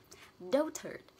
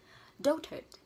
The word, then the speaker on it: dotard: Dotard, trọng âm rơi vào từ đầu và âm T-A-R-D đọc là tut. Dotard.